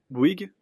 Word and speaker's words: Bouygues: This is C'est Bouygues, je ne sais pas comment le dire. I don't know how to say it. Can somebody teach me? Quelqu'un peut-il m'apprendre ? Bouygues ?